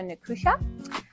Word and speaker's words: Nicusia: So, Nusha. Yes. And that is how you pronounce it.